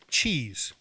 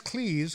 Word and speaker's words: Cleese: However, for many years, I called John Cleese John Cheese because, I need spectacles to read the credits, and I always thought it was Cheese. That's a funny name, John Cheese. And I found out it's Cleese, which, who knows.